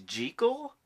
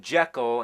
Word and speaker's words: Jekyll: You know that the proper pronunciation is Jekyll?